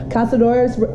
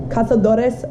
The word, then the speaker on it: Cazadores: poor decision and we're gonna drink little tequila Cazadores Cazadores Reposado my boyfriend hates it when I always